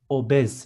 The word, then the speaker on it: obez: Next one, obese is obez in Turkish with z in the end.